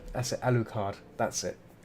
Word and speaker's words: Alucard: How do you pronounce it? A la carte. A la carte. Castle. Alucard. That's it. Alucard.